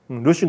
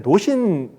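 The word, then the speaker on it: 魯迅: 루신 같으면 옛날 노신 근대 소설가 있잖아요. 그걸 루신이라고 하잖아요. 원래 발음대로. 원래 그 사람이 저수르원인데 주수원인데 원래 발음대로 발음해줘야 돼. 루신이라고 해야 돼.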